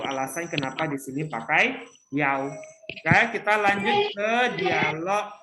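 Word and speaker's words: 幺: kita ganti dengan kata yau. Ya, kita bacanya yau. Ya, jadi dalam penyebutan nomor telepon, ya, kalau ada angka i kita sebutnya yau, ya, bukan i.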